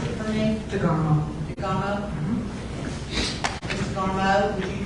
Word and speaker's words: DeGarmo: Or can you pronounce it for me? DeGarmo.